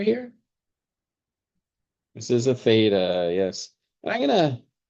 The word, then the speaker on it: theta: know this this letter here this is a Theta yes I'm going to spell that out because some people get confused with